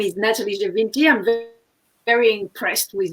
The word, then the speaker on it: Nathalie Gevinti: what you do um so my name is natalie javinti i'm very very impressed with your pronunciation that was perfect scott well done um